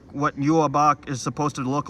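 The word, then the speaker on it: Yhwach: Yeah, that's how you say Yuabak's name, by the way.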